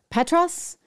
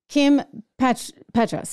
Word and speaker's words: Kim Petras: this would be Kim I'm not even going to say her name right Petros Kim Petras yes who is um well